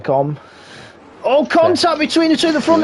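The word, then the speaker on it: Les Combes: Will Freddy have a look at Stube on the run down the Camel Straight towards Lecombs? You don't pronounce the S at the end. It's Lecombe. Lecombe.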